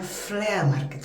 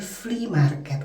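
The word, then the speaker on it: flea market: Eh, saya dulu di episode yang lalu tuh selalu bilangnya flir market, flir market. Padahal saya tuh tahu gitu bahwa itu tuh dibacanya free market karena kan udah ratusan kali lah, baik lihat di YouTube atau di TV gitu.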